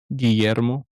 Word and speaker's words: Guillermo: Guillermo.